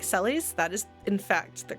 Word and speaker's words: Celes: will fight you about some of them like celes that is in fact the correct pronunciation zorisu is i believe the japanese pronunciation